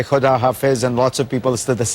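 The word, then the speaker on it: خداحافظ: It said President Rouhani says, "Have a nice day" to President Obama, and President Obama says, "Thank you, Kodafez." If you could you, am I mispronouncing? Holdafez.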